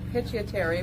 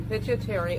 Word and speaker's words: pituitary: known as the pituitary, that is said nothing as that is spelled, but if you say that as that is spelled, it is pituitary, because that is in the pit of the brain. That is why P-I-T is there, but they say pituitary, like some other letter is there.